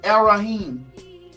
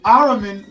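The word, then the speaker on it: Ahriman: This new spirit that has possessed mankind black and white is they call it arraim. Aram sorry I said it wrong. An Araman will incarnate to push humanity toward extreme materialism, intellectualism and technological control.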